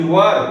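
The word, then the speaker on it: were: कुछ बच्चे इसको वेयर पढ़ते हैं। This is wrong pronunciation, this is नॉट वेयर, this is वर, वर।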